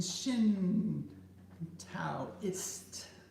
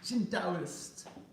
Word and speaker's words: Shintoist: The traveling Shin Taoist. Did I say it right this time? Shintoist.